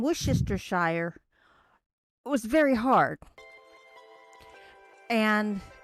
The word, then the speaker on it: Worcestershire: and this person says it's not shire like everybody says and i'm going that's how you say it right ah and they're they're going no when you when you're talking about a town you don't pronounce it as shire it's and i'm going